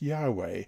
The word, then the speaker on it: Yahweh: capital w capital h y h w h pronounced yahweh and translated as lord in capitals in the